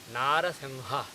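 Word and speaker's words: नरसिंह: You basically think that you are going to say Narasingaha. But before saying Ga, at the last second you drop Ga, instead you say Ha. So the correct pronunciation is Narasingha, Narasingha.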